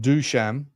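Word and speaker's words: Dušan: Pronounced Dusham.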